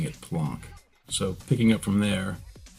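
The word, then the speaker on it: Planck: time or plank length but I call it plon because for one I was corrected when I called it plank blank at the California Institute of integral studies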